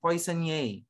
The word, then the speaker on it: poissonnier: Okay, you pronounce it, poissonnier.